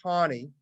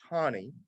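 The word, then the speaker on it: Taney: by Chief Justice Tani it's pronounced Tawny but it is spelled t-a-n-e-y chief justice Tawny um this is widely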